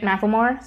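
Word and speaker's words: McLemore: I'd like mention that I wasn't sure and she pronounces it Macklemore so yeah and yeah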